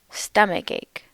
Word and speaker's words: stomachache: Notice that in these words, the stress is on the first syllable. Earache, stomach ache, toothache.